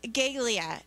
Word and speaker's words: galea: so the name for the roman helmet is gaelia and you have that on your helmet or on your handout there and it's spelled g-a-l-e-a and it's pronounced galea the helmet was made